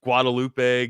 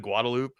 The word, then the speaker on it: Guadalupe: got down here for calling like you know Guadalupe Guadalupe instead of guadaloop um yeah or or